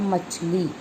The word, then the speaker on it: मछली: और जैसे होता है शुद्ध शब्द होता है मछली, कई लोग क्या करते हैं छ को श बोल देते हैं तो हो जाता है मछली।